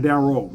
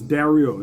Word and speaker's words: Daryl: Carol looking for Daryl darel it's not darl it's darel it's a y there it's Carol and darel